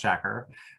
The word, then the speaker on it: Shakur: look at youtube videos you will find 12 different ways of pronouncing his name it is pronounced shakur and you're going to